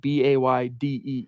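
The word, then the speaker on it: Badie: all right that's because that's how he said his name it's recent that he decided to change the pronunciation of his name so here's what he told Stephen's quote it's Bay let's get it out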